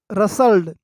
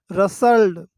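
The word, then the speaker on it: rustled: रसल्ड, रसल्ड, इसका T silent है, रसल्ड, okay.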